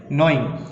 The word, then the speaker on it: gnawing: flat teeth is called gnawing. Gnawing क्या होता है, इसमें जी साइलेंट है तो क्या कहता है,